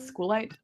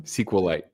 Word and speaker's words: SQLite: SQL light. Squite. Oh um SQLite.